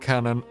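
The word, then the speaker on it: Kanon: the the boy named Canon only cast his eyes downwards Kanan got yeah it's it's pronounced can on but yeah oh [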